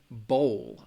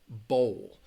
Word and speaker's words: bowl: pronunciation when you're you're trying to improve your pronunciation and say these words so Lali asks between ball and Bowl I can't see that really well that in this one ball ball Bowl so again in that case mmm let's see